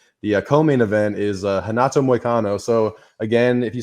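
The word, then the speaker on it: Renato: that start with RS a lot of them will be pronounced with a h they're Brazilian and that's just kind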